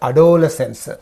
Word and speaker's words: adolescence: And adolescence. So here we use the stress on the first syllable of the suffix.